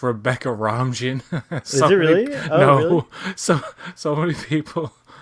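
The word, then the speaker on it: Rebecca Romijn: as his character uh it's pronounced rebecca ramjin no so so many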